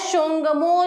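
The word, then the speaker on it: Tsongmo: जिसको कहा जाता है शोंगमो झील। ठीक है, इसके आगे में भी हाफ त लगेगा जो कि साइलेंट रहता है।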